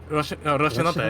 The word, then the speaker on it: Rocinante: That's how that's fucking pronounced. Yeah. Rocinante, yeah.